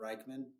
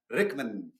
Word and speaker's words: Rykman: how to spell so they spelled it all wrong but pronounced Rickman Rickman makes sense well